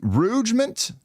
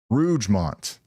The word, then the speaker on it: Rougemont: That's the storm that's going towards Rouge- Rougement? Rougemont? How do you say it? Rougemont.